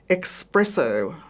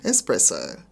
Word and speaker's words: espresso: expressions not pronounced correctly examples are expresso instead of espresso anything instead of anything